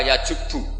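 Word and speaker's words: يجبّ: Itu bacanya bukan yajibu tapi apa? Yajubbu a yaq lah.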